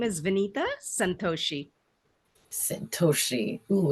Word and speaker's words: Vineeta: say it for us yes my name is Venita Santos Sosi oh it's powerful I love it